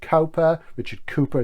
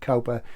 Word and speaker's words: Cowper: Richard Cowper is the correct pronunciation, I know, but I say Richard Cowper so we know who we're talking about.